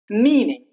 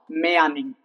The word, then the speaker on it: meaning: search that's wrong search meaning not maying that's wrong but there are exceptions